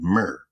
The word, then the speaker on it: mer: Egyptians, by the ancient Egyptians in the word mer. M E R is how we would spell it, but the glyph of a backhoe.